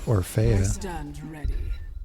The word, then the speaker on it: Orphea: Orphea, or as I've heard it pronounced, Orphea.